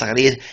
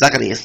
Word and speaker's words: Zacarias: Z in Spanish is spelled as sounds like my name is Zacarias. It's Zacarias, the Zacarias, as we say in English.